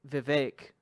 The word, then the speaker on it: Vivek: Probably about to drop some hot bars like Vivek rhymes with cake.